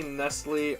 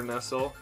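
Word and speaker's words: Nestlé: there too uh i say nestle or nestle i guess i go back and forth isn't there like an accent on the e that's probably why because when it's just written normally there's no accent so i just say nestle yeah i'm talking about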